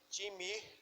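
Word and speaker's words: τιμή: é uma palavra chamada time mais chama assim time né quero ter e m e mas é assim que se pronuncia mas o significado dela é o significado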